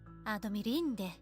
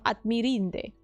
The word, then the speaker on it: admirinde: Adomirinde. Adomirinde. There it is. Adomirinde. Instead of Admirinde.